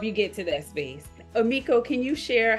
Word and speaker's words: Amikco: My name is spelled Amikco. A lot of people pose the two, but it's Amikco, and last name is. Okay. So Amikco, and then that is Facebook, and then the Instagram.